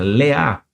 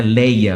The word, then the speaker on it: Leá: Ou, na pronúncia correta hebraica, Leá. Não é Leia, não. Leá. Tem um acento Leá, então é a pronúncia mais correta.